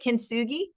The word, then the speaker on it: Kintsugi: That was Ariana on the DC Labor Course links and Anna on the Kintsugi. How do you say it? Kintsugi?